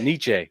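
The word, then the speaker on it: Necciai: Is that how you pronounce his name? Nietzsche. Nietzsche.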